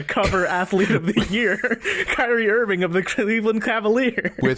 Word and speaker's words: Kyrie Irving: But Kyrie Irving.